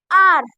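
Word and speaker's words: our: सम हम हमारा आर इसमें साइलेंट है यू इसलिए इसको पढ़ते हैं आर उसके बाद क्या है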